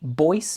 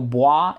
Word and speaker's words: Bois: and it is pronounced Boyce it's an Italian house I know boah is a French word